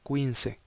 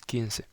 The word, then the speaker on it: quince: Recuerden que la Q y la U juntas se pronuncian como una K. 15. Es muy común que estudiantes nuevos pronuncien como 15. Así que la pronunciación correcta es 15.